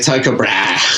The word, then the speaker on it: Tycho Brahe: Tycho Brahe. Tycho Brahe. I don't even know if I say it right. I know you are saying it right. Is that right? Yeah. Yeah. Tycho Brahe.